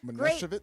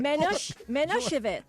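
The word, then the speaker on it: Manischewitz: going you're killing it Passover right so yes Minit yeah minitz now well let's ask George let's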